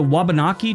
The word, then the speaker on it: Wabanaki: also our most eastern state populated by the wabanaki tribes before European explorers first arrived I hope I pronounce them right wakanabe wabanaki w-a-b-a-n-a-k-i anyway the